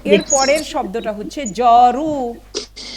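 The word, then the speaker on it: جارو: ঠিক আছে, তো এর পরের শব্দটা হচ্ছে জরু। জরু, জরু, জরু ফার্সিতে কি?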